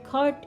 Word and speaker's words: caught: Ingat cara bacanya, GHT dibaca sebagai huruf T. Jadi bukan catch, caught, caught, tapi GHT sebagai huruf T, catch, caught, caught.